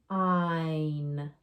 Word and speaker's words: sign: Sign, sign. So GN was at the end of the word. We skipped over the G, went right to the N sound, sign.